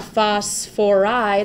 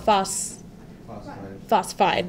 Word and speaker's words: phosphide: So what about phosphoride is what a lot of students try to write. Phosphorus is kind of funky because it's got so many syllables and letters in there. So we just call it phosphide.